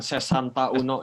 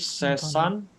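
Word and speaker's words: sessantuno: Jadi itu bukan sesanta uno ya, Kak. Itu dia itu menjadi sesantuno. Sesantuno. Oke, mengapa seperti itu? Di sini saya kasih catatan. Karena sesanta diakhiri dengan huruf vokal. Huruf vokal yaitu A ya. Dan uno diawali dengan huruf vokal juga. Yaitu U.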